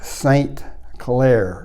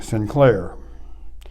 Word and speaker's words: Sinclair: and his name was saint claire to say it in clear english the irish didn't pronounce it that way they pronounced saint as sin and they called him sinclair and that's where the